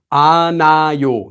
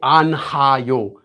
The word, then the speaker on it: 않아요: So you just say 안아요. You don't say 안하요. Just remember that. You don't say 안하요. 안하요. It's just 안아요. So actually it becomes said exactly like this.